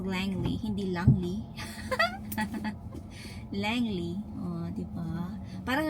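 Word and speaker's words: Langley: Alam niyo yung pronunciation pala ng Langle is Langly.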